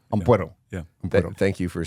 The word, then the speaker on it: Ampuero: Because there's an O at the end, right? Ampuero. Ampuero.